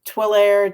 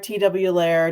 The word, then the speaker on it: Twillair: Twillair, TW-Lair, just don't call me late for dinner.